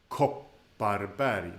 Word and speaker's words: Kopparberg: And yeah, one more thing about Kopparberg, the stress of the word is Kopparberg. The stress is on the first syllable, but that is a short O.